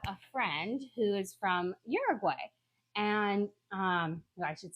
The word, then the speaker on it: Uruguay: is I have a friend who is from Uruguay. And I should say Uruguay because she's like, you're saying it wrong.